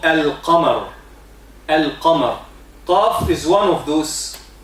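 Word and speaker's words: القمر: In the word moon, al-qamar, we say al-qamar, so the lam of the word moon is pronounced.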